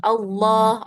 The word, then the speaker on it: Allah: Nah, nanti huruf fanya-nya malah masuk ke dada kalau ee kita baca lafaz Allahnya terlalu tebal. Yang betul Allah.